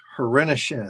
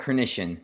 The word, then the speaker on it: Hrenishin: But this is a great opportunity to welcome Hrenishin. Did I say it right? Close. It's Hrenishin, but no worries.